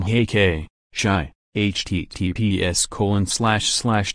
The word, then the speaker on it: Chi: ex Jordan Gregg and to everyone who thinks it's literally pronounced as CH I know it's shy meanwhile Kim 37 and